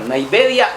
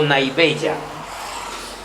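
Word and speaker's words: naivedya: N a i v e d la y a la puede pronunciar naedia o nabella.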